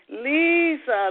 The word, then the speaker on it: Liese: and welcome welcome welcome to Off the Shelf Leisa am I saying your name right um I've always pronounced it Lisa that was was the way my mother did